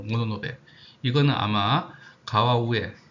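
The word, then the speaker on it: 物部: 그래서 물부는 아까 말씀드린 대로 일본식 발음으로 모노노베. 이거는 아마 가와우에 식 정도로 읽을 수 있을 것 같아요. 그럼 이게 각각 모노노베 가와우에 식인데 우리나라에서는 그 중에서 모노노베 식을 많이 사용하고 있다.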